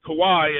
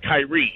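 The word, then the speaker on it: Kawhi: had you read that you would know his name is Kawai and not Kyrie I know it's Kawai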